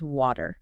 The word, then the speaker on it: water: can be tricky because there's a difference between how Americans say it and how British people say it right so in British English it's water okay water and in American English it's more like wa water okay and it can